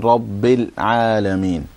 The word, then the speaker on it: رب العالمين: Okay, no bounce on the lam in Rabbil Alameen.